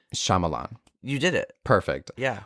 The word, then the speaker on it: Shyamalan: simple and I don't really know how to pronounce this director's name but it's m Shyamalan you did it perfect yeah well his daughter